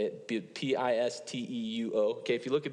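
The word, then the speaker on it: πιστεύω: I think if you look at the Greek word, pistet, I don't know how to say it, Pisteuo.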